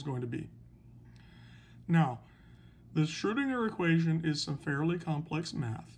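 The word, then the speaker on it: Schrödinger: So another researcher comes along, and his name is Schrodinger, Erwin Schrodinger, S-C-H-R-O, with an umlaut over the O, so we pronounce it Schrodinger.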